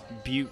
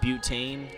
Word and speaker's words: Butte: People mispronounce it a lot. Butte. It's not butane.